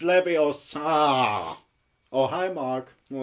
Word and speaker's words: Leviosa: your Tsar you got something it's like you pronounce I did not yeah oh it's Leviosa oh hi mark not got any friends it is not Libby Oh sir it's not true it's this